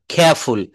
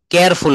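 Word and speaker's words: careful: সি কে কিউ থাকলে এর উচ্চারণ ক না হয়ে খ এর মত উচ্চারণ হবে। নিচের শব্দগুলো সঠিকভাবে এভাবে উচ্চারণ করতে হবে। Cute. Clean. Correct. Critical. খেয়ারফুল। কেয়ারফুল না।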